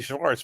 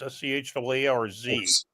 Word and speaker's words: Schwarz: I see Schwartz, but no, that is not how it's spelled. There is no T in Schwartz. That is true. It's Daniel Schwarz, SCHWARZ.